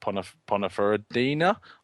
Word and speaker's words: Ponferradina: He spent time on loan at like the likes of Almeria and Ponferradina. That's how you pronounce it.